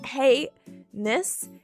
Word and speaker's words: heinous: I feel like heinous is a bit more like hey-ness instead of like anus.